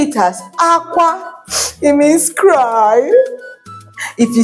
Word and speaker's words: akwa: AKWA can be Akwa. If you say it as Akwa, it means clothes. If you say it as Akwa, it means egg. If you say it as Akwa, it means cry.